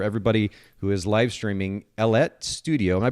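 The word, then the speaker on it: Ellette: who is live streaming ellet studio am i pronouncing that correctly that that's right it rhymes with baguette okay and you've probably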